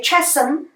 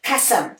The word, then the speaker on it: chasm: we have the word chasm and it's spelling is with a CH but remember it's the same way how you also pronounce the word cat so we do not say Chesham but we say pat